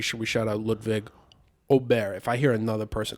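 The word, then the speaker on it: Åberg: G I know that I know it changes the a to an O and the man has said again my tall Swedish born son ludvig has said it is pronounced Oar and so that's the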